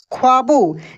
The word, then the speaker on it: ख्वाबों: क्या लिखा है ख्वाबों आधा ख वा और ब में ओ की मात्रा ऐसे देख सकते हैं ख्वाबों यानी आधे अक्षर वाले जो भी शब्द होते हैं उसमें जो आधा अक्षर होता है उसका उच्चारण काफी तेजी से होता है तो दोस्तों